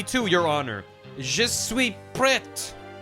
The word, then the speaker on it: prête: Je suis prête. You pronounce the T in that, right? And the accent means you go prête.